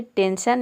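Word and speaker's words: tension: उसी तरह से है टेंशन, यहाँ पे देखिए ION आया है, यहाँ पे टेंशन में एस हो जाएगा, STESION।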